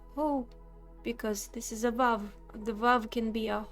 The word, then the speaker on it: Vav: The Vav, by the way, it's not a wow. It's a Vav. It's a solid Vav, okay?